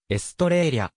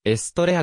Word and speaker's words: Estrella: 多く見られるがエストレーラの実際の発音はエストレーリャや者に近くエストレアではないまたローマ字読みでエストレラと間違われることもあるモーターリングナンバー 22